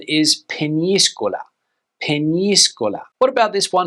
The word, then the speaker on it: Peñíscola: But the Spanish pronunciation is Peñíscola.